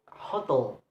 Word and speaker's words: hotel: For noun, hotel, hotel. The stress is placed on the second syllable, and for adjectives, word extreme, extreme.